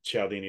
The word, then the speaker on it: Cialdini: and if I'm mispronouncing cialdini that's how I was told it's just pronounced I know it's uh there's no ch but it's an Italian name um if I'm mispronouncing